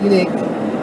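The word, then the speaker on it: Yunique: spelled y-u-n-i-q-u-e unique so it's spelled that it's pronounced unique X spelled with a y um I'm mostly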